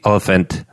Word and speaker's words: Olyphant: pronounce it it's it's it's like elephant with I know so all the font Oh elephant elephant okay yeah so drew Barrymore drew Barrymore and Timothy elephant they they are realtors